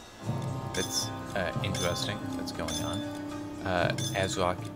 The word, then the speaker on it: ASRock: Azrock is apparently, and I hope I pronounced it correctly, as Azrock, and it's not something else. Like AS-Rock, I don't know, Azrock, I'm gonna keep saying it.